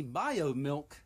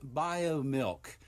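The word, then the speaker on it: Biomilq: those three words alone alt breast milk company bio milk raises 3.5 million from gates investment firm beyond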